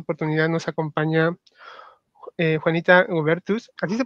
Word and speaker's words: Goebertus: En esta oportunidad nos acompaña eh Juanita Ubertus, así se pronuncia, ¿no?